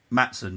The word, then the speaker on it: Maatsen: Maatsen? Maatsen, yeah.